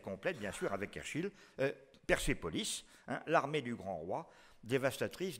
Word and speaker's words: Persépolis: Parce que sinon, ce serait Persopolis, Persopolis, tout ce que vous voulez, mais ça ne peut pas donner Persépolis. Le « et » de la deuxième syllabe de Persépolis est nécessairement dû à cette intervention.